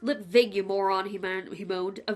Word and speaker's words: Lipwig: lipwig it's pronounced lit vague you he-man he bowed a V not a W up vegan mr.